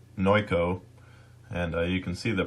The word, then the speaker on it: Noico: at the website here I've been pronouncing this wrong the whole time it's no ko and you can see